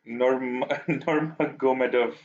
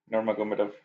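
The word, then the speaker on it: Nurmagomedov: Forgot how his last name is pronounced. It's Normagomedov. Normagomedov.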